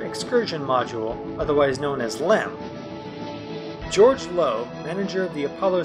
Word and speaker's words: LM: called the lunar module the abbreviation would change from LEM to simply LM but pronunciation did not change as some felt was still far easier to refer to the craft as lamb the second decision came